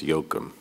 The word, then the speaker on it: Joachim: Dr. I understand your first name is pronounced Yoakum. I got it wrong. Sorry.